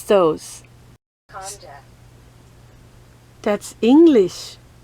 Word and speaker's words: konjac: How do you pronounce those? Konjac. That's English. Konjac.